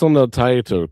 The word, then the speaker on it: Taito: Taito cart?